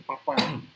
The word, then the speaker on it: Papin: jadi pernah dulu itu ada pemain bola yang namanya papin ya di Eropa sana panggilnya itu papan memang bahasa Prancis ini